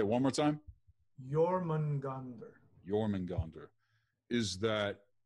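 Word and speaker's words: Jörmungandr: do you say well say one more time your man ghandar your man ghandar is that is that astral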